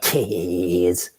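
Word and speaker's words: Kees: People can't leave it alone because it's not keys apparently, even though it says K-E-S. It's like K's.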